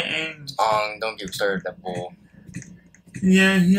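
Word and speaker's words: Aang: all I'm want to teach him how to pronounce his word like you don't say you say Ang don't get that yeah he likes to say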